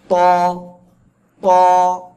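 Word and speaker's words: ط: গোড়া গোড়ার সঙ্গে লাগাবেন লাগিয়ে মোটা আওয়াজে উচ্চারণ করতে হবে এই যে দুই দাঁতের গোড়ায় লাগাবেন ঠিক আছে ত ত আর এক আলিফ টেনে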